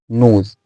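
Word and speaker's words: nose: एन ओ एस ई इसका उच्चारण होता है नोज इसका उच्चारण होता है नोज और इसका मीनिंग होता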